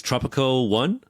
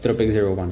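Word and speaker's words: Tropic01: Tropico 1. Is that it? Is that right? Yeah. Tropic 01. Yes.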